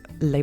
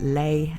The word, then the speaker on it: Ley: I'm a web novel reader, and quite often the translators there spelled it Ley, L-E-Y, and so I tend to pronounce it that way, but that might just be me being wrong rather than CBR.